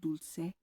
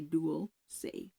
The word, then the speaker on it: dulce: It's pronounced dulce. So the word duel and then se or you can say duel say either or.